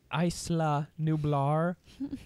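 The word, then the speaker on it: Isla Nublar: books a telltale book know like the it's pronounced Eisler Nublar hundreds of miles west of oh I would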